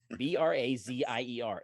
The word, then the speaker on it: brazier: their fuel for that you guys are interested b-r-a-z-i-e-r everyone who played D knows in the DMG